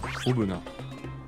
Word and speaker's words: Aubenas: Comment ça se prononce? Apparemment, le S se dit pas si. Ouais, Aubenas, c'est vrai qu'on dit Aubenas, c'est vrai. Aubenas.